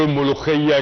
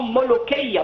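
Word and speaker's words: ملوخية: Même les Fatimides connaissaient par le nom molokhia, parce que c'est plutôt le K, pas le Kra. Les Européens ne le prononcent pas comme nous avec le Kra.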